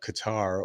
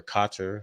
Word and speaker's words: Qatar: through money through uh Qatar or kater however you like to pronounce it um has funded Hamas